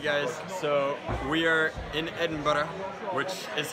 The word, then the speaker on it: Edinburgh: Alrighty, guys, so we are in Edinburgh, which is how I pronounce that, I guess.